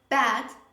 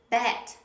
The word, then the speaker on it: bad: through a few examples when you mispronounce the butterfly sound you say a quite different word for example bad bad which means something negative something wrong but usually many learners they mispronounce and they say bat bad a bad is